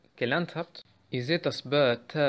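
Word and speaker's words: باء: Kommen wir dann zu Ba, ist wie im Deutschen Ba, B.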